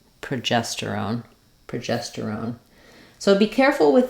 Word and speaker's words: progesterone: on them which is start at the final syllable and work your way through the word that would sound like on terone gestone progesterone or on sterone tosterone